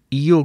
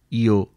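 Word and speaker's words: Io: لے گئے۔ نمبر 9۔ ایو کو امریکن اکثر و بیشتر آیو بھی بولتے ہیں، کیونکہ آکسفورڈ انگلش ڈکشنری میں یہ اس کا ترجیحی تلفظ ہے، لیکن برطانیہ کو اس کا کوئی خصوصی خیال نہیں۔ لفظ مشرقی بحیرہ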